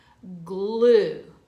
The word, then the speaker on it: glue: Glue. That's our next word. G-L, long U because E is silent.